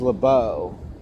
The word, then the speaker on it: Lebeuf: know LeBeau or leboof I think it's Lebow because I I talked to another officer uh and he he told me that it was it was LeBeau yeah it's l-e-b-e-u-f M okay however you